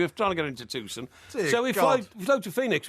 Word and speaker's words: Tucson: Sorry, Tusson. Tucson.